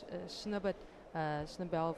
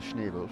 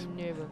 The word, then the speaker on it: Schnebel: so in lane 4 we have Zandra Schnebel from Namibia. So that's German pronunciation. Yes, Schnebel. correct.